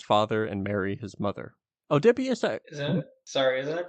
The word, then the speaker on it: Oedipus: But the Wikipedia official soundbite is Oedipus for US English. Oh, it is Oedipus.